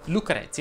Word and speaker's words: Lucrezia: stella lei va chiusa lucrezia invece si pronuncia con la è aperta come alessia i diminutivi chiudono violetta cast